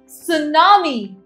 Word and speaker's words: tsunami: Tsunami. This is tsunami. Although it has T यहाँ पर, but we'll still say tsunami. T is always silent.